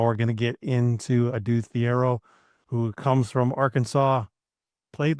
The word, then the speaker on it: Thiero: So Adou Thiero, again, there's Thiero is what I've heard other people say, but it's Adou Thiero, which one of the